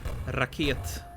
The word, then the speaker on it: Raket: Just pronounced like you usually do. Raket.